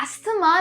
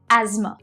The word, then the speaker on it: asthma: अस्थमा नहीं कहते, हम कहते हैं asthma.